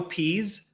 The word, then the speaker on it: Pease: I'll do is I think I'm going to pronounce their name correctly Joe Pease he does uh the kind of motion artwork